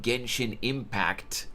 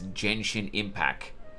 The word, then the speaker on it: Genshin Impact: She had obviously never even heard of the game, and instead of Genshin Impact with T at the end of the Impact, she pronounced the game's name as Genshin Impacc.